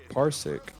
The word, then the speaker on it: Parsec: have you ever heard of that no so parsik is spelled p-a-r-s-e-c I think yeah um parsik is actually an app that allows users to